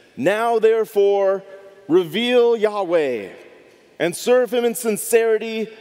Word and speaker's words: Yahweh: Lord" in all caps, I say Yahweh because that is what the Hebrew says, or that's our best guess as how to pronounce God's name.